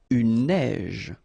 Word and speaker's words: neige: Une neige. Une averse. So same thing here. Un neige. Final E not pronounced. You only pronounce this j.